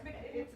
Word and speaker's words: McNamee: So I'm going to introduce first Libby Carter McNamee. If I'm saying, that's okay. Perhaps McNamee? No, it's McNamee. On my second date, I pronounced it McNamee.